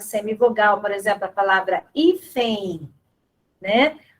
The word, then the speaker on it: hífen: por exemplo, a palavra hífen, né? O N do final, ele tem um som do I, hífen, certo? Então, a letra N final traz som de I, da semivogal I, tá?